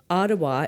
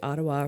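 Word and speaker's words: Odawa: Ottawa is actually spelt exactly how it sounds, O-D-A-W-A. We recognize the Algonquins as the customary keepers and defenders of the Ottawa River watershed and its tributaries.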